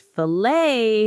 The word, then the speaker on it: filet: And filet has a silent t in many accents.